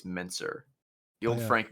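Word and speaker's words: Mentzer: I always say Metzner, but I think it's Menzer.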